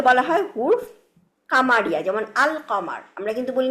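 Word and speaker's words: القمر: আর যে লেটারগুলা উচ্চারণ হচ্ছে যে লেটারগুলা উচ্চারণ করার সময় আলটা লামটা উচ্চারণ করতেছে তাদেরকে বলা হয় হুরফ কামারিয়া। যেমন আল কমার। আমরা কিন্তু বলি না আকমার।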